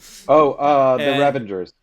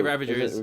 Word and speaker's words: Ravagers: The Ravengers. Yeah, Ravagers.